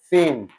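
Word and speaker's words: س: The one that has no dot it is called sin. Just when somebody sin you know when somebody sin kind of stuff has committed a sin does not really mean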